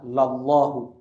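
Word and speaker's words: لَلّٰهُ: itu senang sekali lallahu Nam bukan tulisannya Eh sama dengan lillah ya cara tapi cara bacanya adalah lallahu Allah benar-benar lallahu asyadu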